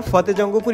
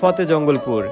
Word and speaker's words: ফতেজঙ্গপুর: এই বাজারের নাম ফতেহ জঙ্গপুর হলেও শরীয়তপুরে যারা আছে তারা কখনোই ফতে জঙ্গপুর উচ্চারণ করে না। তারা কাগজে কলমে ফতে জঙ্গপুর লিখলেও তারা মুখে উচ্চারণ করে ফতে জঙ্গলপুর।